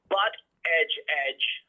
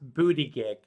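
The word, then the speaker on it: Buttigieg: But you know how they how you actually pronounce that? It was on a news show here. His family was saying, no, this is the funny thing. It's pronounced booty gig, which I think is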